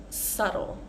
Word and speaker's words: subtle: it was very subtle with this word subtle we want to avoid um changing the vowel sound so that it sounds like subtle or saddle so we can practice those three words together settle saddle and subtle subtle let's go to